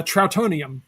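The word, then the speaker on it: Trautonium: Uh, troutonium.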